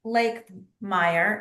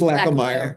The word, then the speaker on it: Lakemeyer: And then, Michelle Lake Meyer. I know you read. Did I say it wrong? I think she says Lackameyer, but yeah, Lakemeyer, Lackameyer, either way, it's fine.